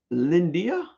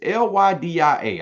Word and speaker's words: Lydia: We have an Andy, Tiffany, we have a Shelby, and we have I want to say you pronounce this Lyndia. It's Lydia. I know I just murdered that name.